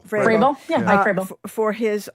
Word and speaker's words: Vrabel: Vrabel. Vrabel?